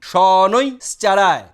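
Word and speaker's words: শনৈশ্চরায়: এই সনৈ শ্চাড়ায়, সনৈ উচ্চারণ করে তারপরে শ্চাড়ায়, প্রোনাউন্সিয়েশন সঠিক হবে ওং ঐং হ্রিং শ্রিং সনৈ শ্চাড়ায় 108 বার।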